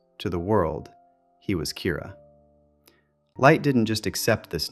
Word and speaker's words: Kira: And they gave this mysterious force a name, Kira. It came from the Japanese way of pronouncing the English word killer.